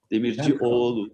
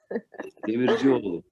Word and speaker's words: Demircioğlu: Bah, vous Demir doublez le O, vous doublez le O précédent pour le bien prononcer. Demircioğlu, comme s'il y avait deux O. Ça veut dire fils de forgeron. D'accord. Demircioglu. Voilà. Demircioğlu.